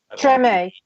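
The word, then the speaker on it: Tremé: Is that pronouncing it right? Treme.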